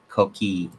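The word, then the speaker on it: Coquí: That it's pronounced Coqui.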